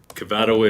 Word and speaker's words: Cavado: say your last name cavado is uh usually how I pronounce it did I say it wrong oh you've been told well I'm going with your version Michael cavato represented Bert scooter scooters